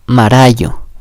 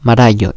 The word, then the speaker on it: marayo: Un ejemplo de donde la podemos encontrar es en la palabra nuevo, que se dice marayo, marayo, es la misma pronunciación de la R.